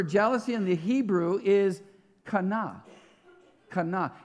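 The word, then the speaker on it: קנא: this word for jealousy in the hebrew is kana it's spelled q-a-n-a kana and this is what it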